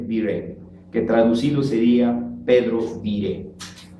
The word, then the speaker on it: Viret: que traducido sería Pedro Viret. Se escribe Viret con B chica y se pronuncia Viret.